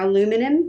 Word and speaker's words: aluminium: Aluminium, is that how you say it? Or aluminum for the US.